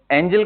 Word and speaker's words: Engel: ENGEL, एंजल ही बोलोगे? अब बड़ा ही अजीब सा है ना, एंजल तो ए से होना चाहिए, बट बोलते ऐसे ही है यार, जैसे भी हो।